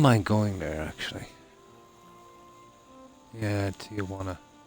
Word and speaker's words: Tijuana: Yeah, Tijuana. That's how it's pronounced, isn't it? Tijuana. The J like a W.